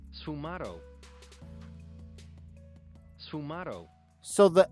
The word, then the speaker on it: sfumato: For these features, Leonardo used a technique known as Sfumato.